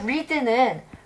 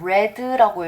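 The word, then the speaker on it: read: 똑같아요 풋도 마찬가지요 풋풋 근데 리드는 이렇게 읽잖아요 그죠 근데 과거가 되면 레드라고 했습니다 그래서 모양은 똑같은데 우리가 발음하는 방법이 달라져요 그리고 바위는 두는 디드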